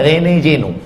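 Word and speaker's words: René Guénon: Perancis namanya Rene Jeno tulisannya Rene juenon bacanya Rene Jeno karena orang Prancis tak bisa bilang r Rene Nah makanya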